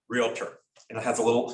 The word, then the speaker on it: Realtor: way of writing realtor also the correct pronunciation is realtor really tore it just practice that i really tore it guilt not realtor realtor real tour not real ter it's not an eater